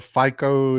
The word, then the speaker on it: Robert Fico: Y'all saw me talk about Robert Fico. Yes, his name is spelled FICO if you're an American, but his name is pronounced Fico.